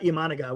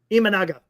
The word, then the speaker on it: Imanaga: It's not Imanaga. What is it? Imanaga.